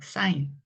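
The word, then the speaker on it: sign: 단어죠 요거 사인이 아아 사인 요거를이 쥐가 무음이 되는 거예요 그래서 사인하고 읽으셔야 돼요 뭐 어떤 표시 뭐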